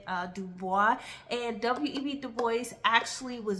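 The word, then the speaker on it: Du Bois: way or French version he did want you to pronounce the s and so that's why I say web de boys just for those who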